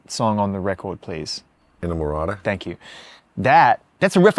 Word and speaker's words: Inamorata: There's can someone please pronounce the last song on the record, please? Inamorata.